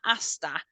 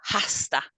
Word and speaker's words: hasta: when you're saying that Asta it's a silent h it's not hasta it's Asta okay so it's a silent h there um as well hasta